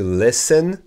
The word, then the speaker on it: listen: Écouter, c'est to listen. Le T est muet. The T is silent.